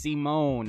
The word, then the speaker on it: Simon: It says, Digger, Supreme Commander, Pilot, Hermit, pronounced Simone, is a mangaka in another universe.